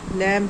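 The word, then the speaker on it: lamb: हमने इनके बर्ड्स दिए जैसे बी जहां यहां भी पर जैसे डाउट है, डेट है, लम है और आपका क्लम है और आपका प्लम है। तो यहां पर सभी में बी बी और बी और बी आपका यहां पर क्या है? साइलेंट आपका अल्फाबेट है।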